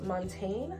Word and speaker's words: Montagne: from a brand called Montaine I think that's how you say it it's m o n t and E I'm assuming the g is silent like champagne Vibes but I think that